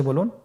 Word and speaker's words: বা: হরফটি কিভাবে উচ্চারণ করবেন বা হরফে টান হবে এক আলিফ টান আপনারা আমার সাথে বলুন বা আবার বলুন বা এর মাখরাজ হলো আপনের দুই ঠোটের ভিজা অংশ থেকে আপনি উচ্চারণ করবেন দেখুন স্ক্রিনে স্ক্রিনে কিন্তু